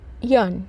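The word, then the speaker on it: yearn: हमारा अगला वर्ड है यन यन वाई ई ए आर एन या आर जो यहां पे थोड़ा सा प्रोनंसिएशन में साइलेंट रहेगा अ सॉरी यन का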